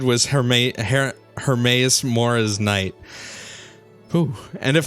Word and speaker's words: Hermaeus Mora: it wrong her hermaeus it's hermaeus not her Mathias hermaeus mora there we go from